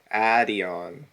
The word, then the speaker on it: Adeon: Well, what's the phonetic pronunciation for it? I'll try to respect that as much as possible. Adeon. Adeon, okay. Uh, okay, yeah, I'll try my best to do that.